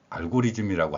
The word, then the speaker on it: 알고리즘: 오늘날 인터넷 환경에서도 흔히 알고리즘이라고 하지요이 이 발음이 바로 이제 일본식 발음으로 th 발음을 지로 하는 일본인들의 발음을 흉내낸 결과로 알고리즘이라고 표현하고 있는데 알고리즘이 발음이 발음에서 표현하는